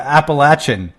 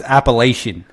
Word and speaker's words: Appalachian: people from the mountains they call it appalachin but I'm like bro you come you come over here it's pronounced Appalachian and she's like you